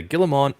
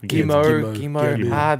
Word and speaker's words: Guillemot: Guillemot. The French with all these characters you don't pronounce.